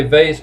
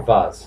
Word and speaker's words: vase: You can say vase or vase. You can pronounce both ways.